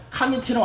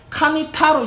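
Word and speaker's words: קניתי: but 그런데 이거는 히브리 사람이 어떻게 읽었냐면은 카니티로 안 읽고 카니타로 읽어요. 그러니까 쓰여있기는 카니티로 쓰여있는데 히브리 사람들이 일부러 카니타라고 읽는데 카니타라는 뜻은 뭐냐면 you must buy, 너 꼭 사야 돼 이 뜻이에요.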